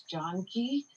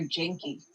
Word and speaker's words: Janki: Everyone says my name wrong, and then my little sister's name means love, which is Janki, but everyone called her Janky.